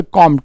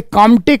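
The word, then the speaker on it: Comte: compatibility जो होता है फ़्रेंच भाषा में वो साइलेंट होता है परंतु हिंदी की किताबों में कामटे कामटे भी लिखा है कई बार यूपीएससी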